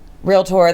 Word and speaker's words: realtor: you can just use the 2 syllables, but don't fuck it up and say realtor because then you're an asshole.